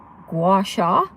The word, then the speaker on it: gua sha: But as far as my face, I've been doing face yoga, and then I got the, I pronounce it gua sha, the little, mine's jade.